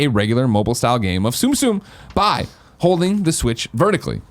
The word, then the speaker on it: Tsum Tsum: Tsum Tsum is how I was told it was Tsum pronounced.